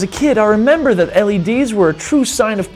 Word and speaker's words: LED: hero of Technology the LED how do you pronounce an LED or I call it lead actually it's supposed to be called LED but